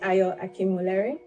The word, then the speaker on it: Ayo Akinwolere: So our guest this week is Ayo Akinwolere.